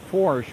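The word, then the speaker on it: Forsche: So his name is, he pronounces it Forsch, but spells it F-O-R-S-C-H-E.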